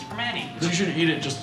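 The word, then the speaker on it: Primanti: It's technically a T, but you don't pronounce a T. It's Vermonti.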